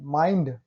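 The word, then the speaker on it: mind: किसी शब्द के अंत में आई के बाद एन डी आता है तब आई ध्वनि की मात्रा से उच्चारण करते हैं। माइंड, देखिए आई के बाद एन डी आया है।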